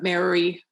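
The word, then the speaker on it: Māori: And so when we read the Maori, or Maori, depending on how you want to pronounce it, creation myths, Mama, Papa,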